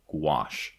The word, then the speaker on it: gouache: worked in gouache see Josh I learned to pronounce it gouache um in uh in one of the issues